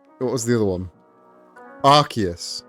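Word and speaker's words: Arceus: They can't decide how to pronounce Archus. Archus. For a while they for a while they tried to make it Arius and then they learned that that that's got the word ass in it and you can't you can't have that.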